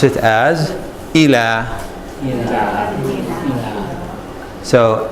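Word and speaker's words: إلى: of Aleph so we say I mean we pronounce it as ela so ela I'll leave Oh see the next said that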